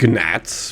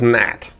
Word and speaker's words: gnat: I mean, you probably don't say it like gnats, but I don't know. Okay, there are a lot of cheap shots in here. Holy crap. Okay, we now have the blue key. It's pronounced Nat.